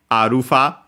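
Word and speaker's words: アルファ: uh as well uh simply arufa there's a variant with a longer vowel at the end but actually it's uh the less common one uh according uh to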